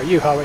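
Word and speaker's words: Juha: How'd you pronounce it? Emperor, you know. You're Scandinavian, I think. I think it's Yuha. Yuha. There we go. Yuha it is.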